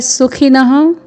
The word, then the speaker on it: सुखिनः: फिर है सुखिनः, पूर्ण दंत्य स में ह्रस्व स्वर है, फिर ख में ह्रस्व स्वर, फिर न में विसर्ग है सुखिनः।